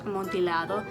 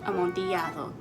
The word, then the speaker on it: Amontillado: Now, I'm sure that you've all heard of the Telltale Heart, the Cask of Amontillado, which, yes, is in fact pronounced Amontillado and not Amontillado.